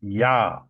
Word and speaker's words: Yah: Of course, we know that there's no J sound in the Hebrew language. So the J is always pronounced as a Y. So it is pronounced Yah.